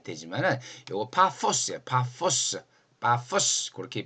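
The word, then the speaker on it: Πάφος: 세상에 바보 섬이 다 있냐 할 테지만 요거 파포스 파포스 파스 그렇게 발음하면 되는데 성경에는 바보라고 돼 있으니까 우리는 바보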